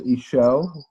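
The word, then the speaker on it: Işıl: zoom in, and so her name is pronounced Ishel.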